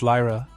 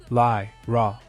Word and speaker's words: Lyra: in tone he says it's Lyra and then pronounced it more slowly Li ra completely dumbstruck her mind